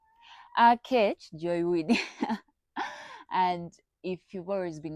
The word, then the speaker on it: Aketch Joy Winnie: If you're new on here, my name is A Joywini. A that's how they pronounce my name. A Joywini.